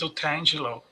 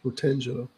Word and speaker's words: Otangelo: or any comments Well, my my correct pronunciation of my name is Otangelo. Okay. Otangelo.